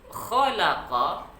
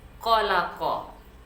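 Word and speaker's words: خلق: Khalaqa, huruf pertamanya adalah kha. Kemudian ada la dan qa. Banyak juga yang kita dengar membacanya dengan khalaqa. Sama saja bunyi antara kha dengan qa. Jadi mesti kita bedakan kha, kha, la, qa. Kha, la, qa. Jangan dibaca qalaqa. Berarti dua-duanya kita buat menjadi huruf qaf.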